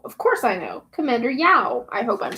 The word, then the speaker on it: Yao: It's pronounced Yao. How do I know? Of course I know. Commander Yao.